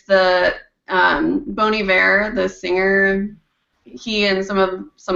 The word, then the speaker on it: Bon Iver: Bon Iver. That was vulgar. Bon Iver? Bon Iver. How do you spell it?